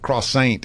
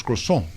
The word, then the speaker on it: croissant: It's not croissant as Gerard Butler says, and he gets a nice little schooling from a French man that tells him no, it's croissant.